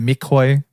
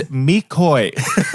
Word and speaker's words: McCoy: The McCoy. Is that the proper pronunciation, by the way? It's Mikoi. Okay. You've been saying it wrong.